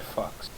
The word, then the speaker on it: Fuchs: Well, the guy was called Fred Fox. Yes. But it was spelled like Fuchs.